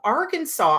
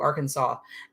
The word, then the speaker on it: Arkansas: Martha, you had to learn how to properly pronounce Arkansas now that your daughter's babies have moved there. Oh, cool. So, Arkansas.